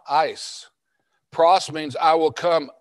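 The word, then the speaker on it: εἰς: be the preposition ice e i s that's pronounced ice and it means into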